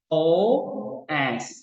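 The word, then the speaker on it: φῶς: FOS. Jadi FOS. Nah, sekarang coba transliterasi. Ini baca FOS, artinya terang. Artinya apa? Terang. Nah, sekarang transliterasi gimana? Transliterasinya pakai PH. PH, O panjang, lalu S. Jadi FOS.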